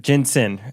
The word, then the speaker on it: Jensen: Jensen. It rhymes with win.